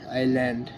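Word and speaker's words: island: সামলেন্স এস আই এস এল এ এন ডি আইল্যান্ড silence T সি এইচ টি সি H catch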